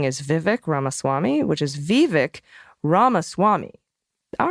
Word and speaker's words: Vivek Ramaswamy: Vivek Ramaswamy, which is Vivek Ramaswamy. All right, great. Or Ramaswamy. So maybe there's 2, like a Ami. I've exaggerated the stresses, but they really should just be the slightest stretches. Vivek Ramaswamy.